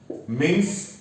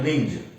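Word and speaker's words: mince: और एग्जांपल ले लो, मिंस एंड मिंज। मिंस verb है, मिंस वर्ब है और मिंज नाउन है।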